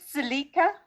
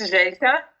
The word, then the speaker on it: Jelka: I come back in 1 minute, and then I just give Is it Zelika? Is that how you pronounce it? I'm sorry. It's Jelka. It's Jelka.